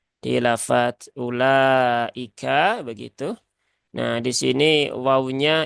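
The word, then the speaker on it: أولئك: ya wau rosem Nah agar orang-orang yang EE bukan dari bangsa Arab ya tidak keliru membacanya menjadi ilaika jadi tetap terbaca ulaika ini sudah kita bahas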